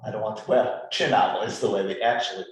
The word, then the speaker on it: Cinatl: to be well i don't want to well chin novel is the way they actually pronounce the last name okay but we american